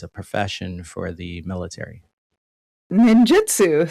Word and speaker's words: ninjutsu: Ninjutsu sounds fascinating as well. Did I pronounce that right? Ninjutsu?